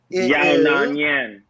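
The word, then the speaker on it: Yan Xiaonan: Let me pronounce that again. Yona Nyan.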